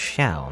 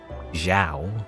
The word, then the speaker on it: Xiao: anyway but i swear it's pronounced xiao not like zhao zhao is like if it's if it's like z you know z i a o zhao otherwise supposed to be ciao anyway uh so we